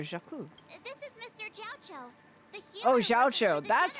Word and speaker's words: Xiao: Oh, Xiao. That's how his name's pronounced.